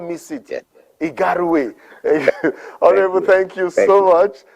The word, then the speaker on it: Igarawe: How is it pronounced properly? Igarawe. Igarawe. I would not miss it. Yeah. Igarawe.